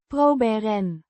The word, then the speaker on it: proberen: It is the plural noun that boze modifies proberen. means to try or to attempt, pronounced Proh-beh-ren. with emphasis on the first syllable.